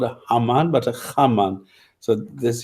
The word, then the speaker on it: Haman: Okay, it's Haman in Arabic, Haman, and in Egypt, in the hieroglyphs, the pronunciation is Kheteb, because he puts a dot underneath the H, which would make it a hard H, which is a Khe.